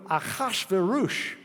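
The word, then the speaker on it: אחשורוש: So we'll read in the Hebrew, Achashverosh. The ah sound means we're borrowing a foreign word.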